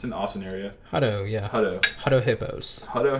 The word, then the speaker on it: Hutto: I don't know how you pronounce it, but it's an Austin area. Hutto, yeah.